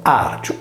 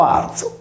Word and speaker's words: Vàrgiu: Allarcia contro l'azione di Argiola è riferito al cognome sardo Vargio pronunciato Arcio o Arzo quando tale lemma è preceduto da una voce che termina per vocale.